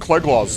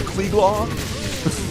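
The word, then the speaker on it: Cleglaw: That's not pronounced klelos like this. Cle is klelaw.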